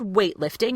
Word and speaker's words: weightlifting: But in the word weightlifting, if you use that phrase and you want to say it the way an American speaker would, you would use that stopped T.